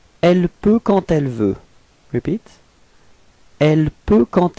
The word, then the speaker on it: quand elle: And here the D would be pronounced a bit more like a T.